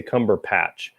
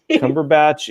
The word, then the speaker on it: Cumberbatch: I always want to say Cumberpatch. Cumberbatch is one of them.